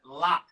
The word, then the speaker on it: larb: It's called chicken lap. It's spelled like LARB, L-A-R-B, but there's no R-B noise. It's chicken lap, and it's a Thai dish.